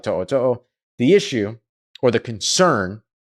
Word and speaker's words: To'o: Alabama's Henry, it's pronounced To'o. T-O''O, T-O''O.